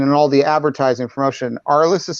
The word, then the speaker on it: ARLI$$: title uh and in all the advertising promotion our list is spelled with two dollar signs instead of s's